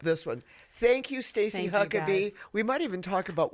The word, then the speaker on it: Huckeba: Thank you, Stacy Huckabe. We might even talk about why your name is spelled Huckaba and it's pronounced Huckabe.